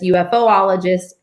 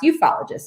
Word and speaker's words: ufologist: They'll say ufologist, UFOologist, but it's actually pronounced ufologist, and that was created by the wonderful J.